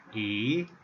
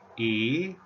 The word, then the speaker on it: 乁: The pronunciation is tone number 2, E, E.